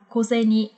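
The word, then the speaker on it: 小銭: Nhưng mà ở đây thì nó lại được đọc đặc biệt, nó sẽ được đọc là koseni.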